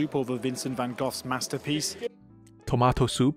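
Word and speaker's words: Van Gogh: 所以他们在对这个梵谷啊，Van Gogh，所以让你知道一下他的名字怎么念，Van Gogh，梵谷。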